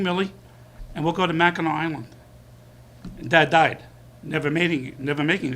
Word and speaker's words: Mackinac: Am I saying it right? Not Waccamaw Island, Mackinac Island.